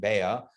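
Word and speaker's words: ביעא: So in Aramaic, beitzah, egg, is pronounced, or the word is beya, not like Bella, like the name beya, but beya like BE apostrophe AH, beya, whatever.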